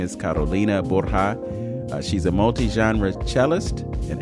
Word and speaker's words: Borja: Welcome to Open Door, Miss Carolina Borja. Did I say it right? Yes, thank you. Yes. Okay, because I could have anglicized it and said Carolina Borgia, but I don't think you would have appreciated that.